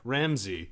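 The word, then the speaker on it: Ramsay: is r a m s a y yeah ramsy Ramsey with an a correct I don't know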